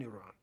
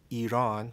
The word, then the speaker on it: Iran: The country, as we know today, Iran, that's how it's pronounced, because I've heard many different pronunciations. I've heard Iran, Iran, but the correct pronunciation is Iran.